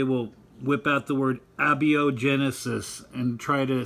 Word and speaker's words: abiogenesis: It's pronounced abiogenesis, just so you know.